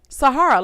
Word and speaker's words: Sahara: can just introduce yourself Sahara like the desert it's pronounced like you would the Sahara Desert that's all you need